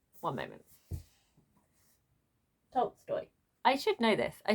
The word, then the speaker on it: Tolstoy: The other one is Leo Tolsky. One moment. Tolstoy.